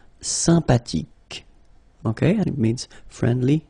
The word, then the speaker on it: sympathique: Sympathique. Remember the H. H is not pronounced. Sympathique.